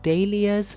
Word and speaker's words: dahlias: They are also pronounced day-lias, but in this video I'm going to pronounce them dahlias.